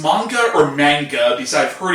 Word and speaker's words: manga: Now, is it pronounced manga or manga?